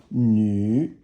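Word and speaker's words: 女: So that yu is hard for Americans to pronounce, but it basically means it's like the French yu, and nu is third tone, and it means a woman.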